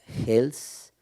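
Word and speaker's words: Heels: Actualmente cursa la maestría en artes escénicas en la V, donde investiga la danza Hels, Hells, está bien pronunciado, Hells en Jalapa.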